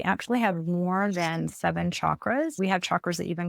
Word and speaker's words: chakras: And it's pronounced chakras with a cha.